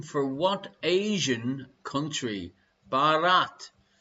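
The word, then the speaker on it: Bharat: for what asian country barat did you like my pronunciations there her indoors i'm not saying borat barat is the native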